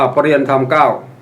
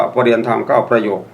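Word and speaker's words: เปรียญธรรม ๙ ประโยค: ย่อ ที่ น่า สังเกต ถ้า ท่าน ใด จะ อ่าน เต็ม ว่า ปริญ ธรรม 9 อย่าง นี้ ผิด นะ ครับ ย่อ มา จาก ปริณ ธรรม 9 ประโยค ต้อง มี คำ ว่า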